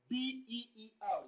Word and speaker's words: beer: part of the word b-e-e-r where we have e-e on the line the sound presents there is the diphthong here beer here now the first option